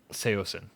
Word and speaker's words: Saosin: Saosin is how it's pronounced.